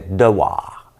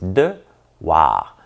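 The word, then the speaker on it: Dewar: Hier, la définition du mot, c'était devoir. Mais je l'ai mal prononcé, c'est devoir. D-E-W-A-R.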